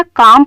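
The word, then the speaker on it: calm: ही इज़ अ काम person. काम means जिसका मिजाज बहुत ठंडा हो, इसमें एल साइलेंट है, काम पड़ा जाएगा।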